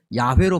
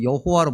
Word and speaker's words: 야훼: 그래서 히브리어 발음으로 하면은 자음만 4개가 있어요. 그래서 신의 이름을 부르는 4개의 문자다, 음자다. 그래서 사음자라고 그러는데 이 사문자가 모음이 어떻게 붙느냐에 따라서 야훼로 발음되기도 하고 여호와로 발음되기도 해요.